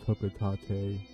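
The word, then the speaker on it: Hocotate: I know it's pronounced Hokotate.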